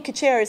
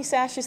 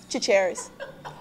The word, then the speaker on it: Chachere's: I can't tell you all the time how people are like, oh yeah, Tony Charchere's. I'm like, no, Tony Chachere's. Like, no, Chachere's.